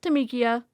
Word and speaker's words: Tamika: And then they said, "We've been saying your name wrong the whole time." And she's like, "Yes, but that's okay. It's Tamikia or Tammy, whatever.